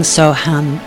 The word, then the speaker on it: Soham: I'm pronouncing Soham here in the English way.